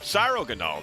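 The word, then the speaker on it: Cryogonal: Cyro Ganol. That's That's how you say it cuz it's like cyromancy, something like that.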